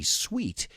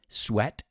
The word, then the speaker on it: sweat: even break a sweat careful with the pronunciation i've heard many students say sweet and trust me sweat is not sweet el sudor no es